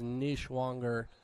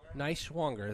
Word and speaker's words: Niswanger: It wasn't going to be called as Nishwanger goes ahead. Niswanger. That's how Mr. Niswanger. That's how Lemon is pronouncing the name as well. So we will pronounce the name Niswanger.